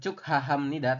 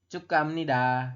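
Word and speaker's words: 축하합니다: Nida ini cukaam Nida pengucapannya bukan cuk haahamnida tapi cukamnida kayak gitu ya kemudian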